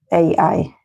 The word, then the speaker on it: AI: this is made with IA. Not IA, sorry. How do you say it in English? AI? AI, not IA. IA is the Spanish.